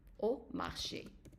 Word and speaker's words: au marché: And then if it is followed by a U, then it is pronounced as an O. Not O, but O. Okay? So Okay. let's say, for example, you would say au marché, at the market.